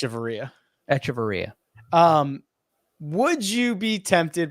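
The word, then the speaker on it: Echavarria: It's Echevarria.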